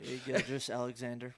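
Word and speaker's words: Gilgeous-Alexander: Gilgeous Alexander.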